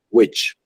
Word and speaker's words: which: Entonces, A pesar de que está escrita con la I, que nosotros tenemos como pronunciación I, en este caso sí es el sonido cortito de la I. Which days?